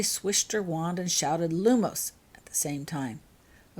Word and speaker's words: Lumos: "While you say the word Lumos. Put the accent on the first part and make sure you finish the word and the wand motion at the same time.